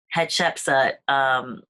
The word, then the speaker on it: Hatshepsut: How do you pronounce that? Hatshepsut.